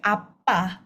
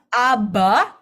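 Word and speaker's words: 아빠: Apa? Bukan aba, tapi apa? Oke. Apa? Tapi bukan juga ee bukan pakai P ya, Teman-teman ya.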